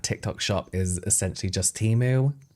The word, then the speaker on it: Temu: I would go as far as saying that TikTok shop is essentially just Temu. Tem-mu. I'm never calling it Tem-mu. I know that's how you meant to pronounce it.